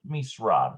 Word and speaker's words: למשרד: lemisrad. That's how that's pronounced.